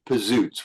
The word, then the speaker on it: Pizootz: We trademarked the name, and we changed the pronunciation to Pizootz. We Americanized it.